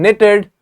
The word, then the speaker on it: knitted: sign g is silent in knitted K is silent in wrist W is